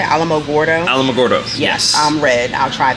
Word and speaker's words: Alamogordo: magoro is how how do you say Alamogordo Alamogordo yes I'm red I'll try that for so